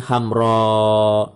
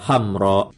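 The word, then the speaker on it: حمراء: Jadi ada ha, mim, ro, alif, alif, itu asalnya. Jadi membacanya hamra. Ketika terlalu panjang maka dirubahlah alif yang kedua menjadi hamzah agar dapat terbaca hamra, hamra, seperti itu.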